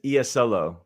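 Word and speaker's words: Iisalo: that the coach, Tomas, I heard it the right way. Tomas Isolo. So it's not it is Isolo. It is. It's whatever. There's a pronunciation there. So it's Isolo.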